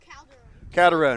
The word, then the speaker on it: Calderon: Calderon.